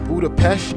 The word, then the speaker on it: Budapest: Budapest is actually pronounced Budapest in Hungarian.